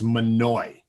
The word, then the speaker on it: Mahanoy: i have debated this i've actually done some research uh pronunciation guides online the best i can tell it's monoi so there you go um so we'll be